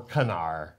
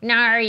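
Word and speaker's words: Knarr: Gnar or Canar. I don't know. You pronounce the K? No, I don't think so. Gnar, you don't.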